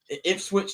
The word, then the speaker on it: Ipswich: I don't think they're gonna hoist it this week because I don't think we're gonna lose the Ipswich. That's how you pronounce them niggas' names.